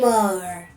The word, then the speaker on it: Asshimar: Now when we are considering aerial dominance transformable models, one example comes to mind immediately — Pixel: THE ASSHIMAR! ‘(Pronounced Achimar) No Pixel, I meant the Gaplant.